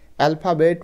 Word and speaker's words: alphabet: দেখো এ এল এল পি এইচ এ, এটার উচ্চারণ কিন্তু ফা, অ্যালফা বিইটি, বেট। অ্যালফাবেট মানে বর্ণমালা।